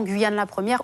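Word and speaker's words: Guyane La 1ère: on parlait de guyane 1ère jusqu'ici on entend guyane la première ou la première à quoi se fier aujourd'hui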